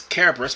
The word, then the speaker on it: Kerberos: I mean, the correct pronunciation is Kerberos, but everybody's going to call it Cerberus here in this game.